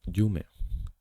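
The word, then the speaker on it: 夢: there's this one here which is pronounced as jum jum is dream there's this one here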